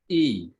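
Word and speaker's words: ಇ: Now I come to the third vowel, which is E. And the pronunciation is as in thin.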